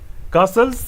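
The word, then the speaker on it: castles: देखिए दोस्तों first question, wild कासल्स, ठीक ना, टी इसमें साइलेंट होता है, wild कासल्स इन द एयर, इसका क्या मीनिंग है, ठीक ना।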